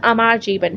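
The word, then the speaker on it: আমার জীবন: लिखी जिसका नाम था अमार जीवन, ठीक है। इसको इसी तरह से प्रोनाउंस करते हैं क्योंकि ये बंगाली में है।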